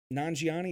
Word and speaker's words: Nanjiani: way that they're able to come out kumal nanjiani is how you say his last name a